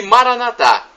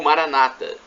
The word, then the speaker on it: Maranatá: E Maranatá, ou Maranata, as duas pronúncias são corretas. Maranatá, dizem os católicos. Maranata, os protestantes ou evangélicos.